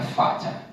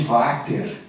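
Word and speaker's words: Vater: eu até tentei conferir eu não sei se vai atener alemão ou austríaco então a pronúncia seria fato Tá mas ampola de water como nós brasileiros falamos Ela está na segunda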